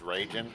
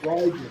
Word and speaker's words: Raijin: It's Raijin, like Raijin. rye, whiskey, and gin.